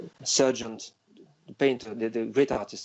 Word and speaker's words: Sargent: How do you say Sargent? Sargent? Mm-hmm. Yeah. Yes. John Singer Sargent.